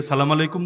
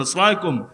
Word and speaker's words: আসসালামু আলাইকুম: আপনারা কি সে এমপিরে সালামু আলাইকুম দিবেন মানে আসসালামু আলাইকুম তো দিবেনই না অশুদ্ধ উচ্চারণ আসসালামু আলাইকুম এটাই দিবেন ওটা তো দিবেনই না